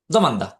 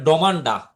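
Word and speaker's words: domanda: তো আপনারা এটারে আবার যদি মনে করেন যে ইতালিয়ানদের কাছে আসার পরে আপনি যদি বলেন ডমান্ডা হ্যাঁ। ড ড উচ্চারণ যদি করেন দি উচ্চারণ করেন তাহলে এরা বুঝবেই না। এজন্য আপনাকে এখানে দ মান দা এই দ এই দিটার উচ্চারণ হবে দি।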